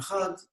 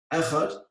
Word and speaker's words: Echad: It says in the Dalet, Echad, so it's a Hebrew word made up of 3 Hebrew letters, Aleph, Ches, Dalet. He says that lengthening of the pronunciation should be on the Dalet.